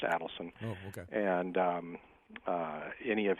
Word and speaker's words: Adelson: By the way, that's how it's pronounced, Adelson.